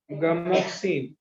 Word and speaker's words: Gammexane: जीए में गामा मत लिख, लिख देते पहले spelling. गामा isomer is called as gamoxine, GAMMEXANE, gamoxine हो गया, GAMMEXANE, gamoxine, और lindane, LINDANE, lindane, which is used as insecticide।